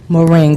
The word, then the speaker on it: moringa: So I want to briefly go back to the moringa.